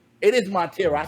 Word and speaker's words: Montero: up i hope i get it right it's montero it is montero i said it right i said it right